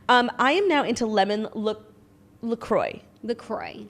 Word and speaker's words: LaCroix: I am now into lemon LaCroix.